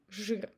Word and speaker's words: жир: You see, zh is followed by I, but we're not trying to say жир. We just replace I with I in our pronunciation and say жир.